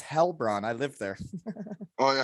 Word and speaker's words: Heilbronn: But yeah, he was in Heilbronn and this season. I actually sorry, you can say I can say Medveskak, and you can say how you say it. It's Hellbron.